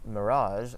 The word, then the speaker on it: mirage: So if you think about the word mirage in English, the G actually gets pronounced a lot differently than in other G words in English. So the mirage sounds like a sound. So practice it with me. So we have like in mirage or garage is another example. In French we use the same sound uh and this is how the J is pronounced as well as the G when